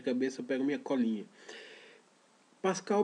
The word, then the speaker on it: Pascal: Pascal Bernardin, se escreve Pascal, não tem nenhuma dúvida, né?